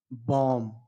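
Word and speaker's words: bomb: silent करके पढ़े जो सही होगा उसको पढ़ेंगे बम क्या चीज बम और यदि यदि आप साइलेंट शब्द को साइलेंट सॉरी साइलेंट लेटर को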